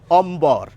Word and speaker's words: অম্বর: তাহলে এই যে সূত্র এই সূত্র মেনে বলা উচিত ছিল অমর ম দি দত্ত হবে কিন্তু না এখানে কিন্তু ম এবং ব দুটি বর্ণেরই উচ্চারণ আমরা করি অম্বর এটি তো মাঝে রইলো